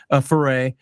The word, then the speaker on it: Ferre: Back then, he was Rob Ferry. That's how he pronounced it back then. And he's since been a Ferre.